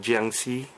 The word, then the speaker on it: Jiangshi: So yeah, in Cantonese these guys are called Guangxi, and in Mandarin they're called Jiangshi. Obviously I'm not Mandarin speaking, so my Mandarin pronunciation is horrible, but Guangxi.